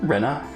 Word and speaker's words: Rena: uh uh for Forever by the way pronouncing is more like Rena oh like so